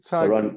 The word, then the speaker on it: Doron: I'm afraid to pronounce the the second name. Is it? Yeah. Doran.